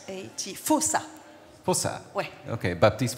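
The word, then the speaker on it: Faussat: France um Baptist fos um I think I pronounced that right f a u SS a t fos u s s a fosa fosa okay Baptist fosa Baptist F yeah yeah yeah fantastic language Creator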